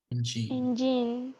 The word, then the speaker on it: engine: Engine. Engine. Engine. Engine. Engine. The first part is the emphasis.